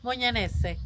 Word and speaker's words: Mugnanesi: You pronounce it again. Mugnanesi.